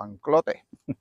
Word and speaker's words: Anclote: Este es el Anclot o Anclote River. Creo que se llama Anclot. Se pronuncia así.